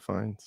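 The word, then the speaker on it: Fiennes: Lawrence played by Ralph Fine Fine right Fines Fines Ralph Fines yeah I didn't know that's how you said that Fines Yep. Yep. That's how you say it.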